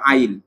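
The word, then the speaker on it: -yl: শেষে ওল থাকে আর ওর উচ্চারণ হল আইল আবার ইল বইল না হ্যা ইল বললে কিন্তু ভুল হব তাইলে সকলই নামের শেষে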